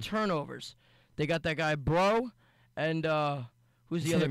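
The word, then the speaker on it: Breaux: the other cornero bro b r e a ux bro oh okay I was I thought it was like bro like what's up bro I mean they pronounce it bro I don't know how they got bro out of Brocks a CO name it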